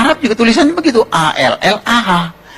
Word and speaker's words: Allah: a l l ah cuma Dia membacanya ngejanya beda sama kita kalau kita cukup Allah gitu kayak bercanda sama teman aja allahah lu gitu aja tersinggung gitu ya kayak begitu ringan gitu bacanya itu ringan tapi kalau mereka itu terpengaruh dengan bahasa Arab jadi enggak ringan Allah nah gitu nah dengan